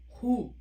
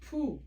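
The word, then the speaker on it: ふ: This is not who. This is called poo. Poo, poo, F-U, poo, ha, he, poo.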